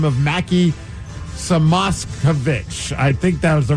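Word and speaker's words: Mackie Samoskevich: And then they also made a trade for a 23-y old by the name of Mackie Samosovich.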